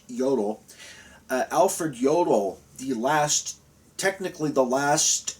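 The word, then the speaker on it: Alfred Jodl: that was very common alfred yodel j-o-d-l the j in germanic languages are pronounced with the yah sound so that's why it's pronounced yodel alfred yodel the last technically the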